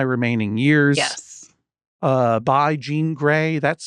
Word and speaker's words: Jean Grae: book in my remaining years yes uh by Gan gray that's spelled g r a e Gan is spelled